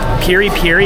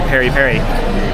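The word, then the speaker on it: peri-peri: huge and also chicken Peri Peri is how you pronounce it Peri Peri which I feel like we always say Perry Perry but Shantal and I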